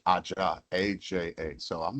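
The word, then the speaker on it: ajá: And then so she said Aja, AJA.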